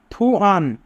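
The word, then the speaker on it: 투안: থুয়ান। থুয়ান ব্যক্তির নাম। থুত প্রথমে থাকলে থ উ, থু। ইয়ং উপরে থাকলে ইয়ং এর উচ্চারণ হয় না, আ। নিচে থাকলে আন।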